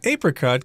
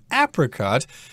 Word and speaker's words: apricot: And we should also mention that this fruit, apricot, can also be pronounced apricot. It depends on your preference there.